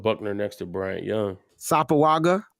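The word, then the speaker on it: Sopoaga: Sapoaga. How I say it again? Yeah, you got it right that time. Okay. See, it only take me 3 tries. Sapoaga. It's not Sopawaga.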